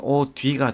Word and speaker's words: 옷 위: 그런데 자, 실질 형태소가 올 경우에는 대표음으로 바꾸어서 1번 대표음으로 바꾸어서 뒤음절 첫소리로 옮겨 발음할 거예요. 그래서 오 뒤가 되고 오다를 역시 대표음으로 바꾸어서 뒤음절 첫소리로 옮겨 발음하니까 오다래.